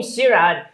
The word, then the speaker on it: Xiran: Chinese names pretty well like my name sirad if you pronounce it the way you think it is if it's right it's completely correct and I think that's